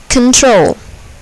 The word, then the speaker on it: control: syllable is accented emphasis control control here the second syllable is accented control content content here